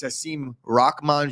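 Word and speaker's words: Hasim Rahman: a former heavyweight champ it is haseem rachman jr you're welcome scoop for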